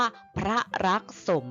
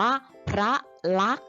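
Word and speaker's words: พระลักษมณ์: พระ รัก นะ คะ สังเกต ว่า สอ รือ สี มอ ม้า นอ แนน จะ ไม่ อ่าน นะ คะ ไม่ ได้ อ่าน ว่า พระ รัก สม นะ อ่าน ว่า พระ รัก เฉย ๆ ค่ะ ต่อ ไป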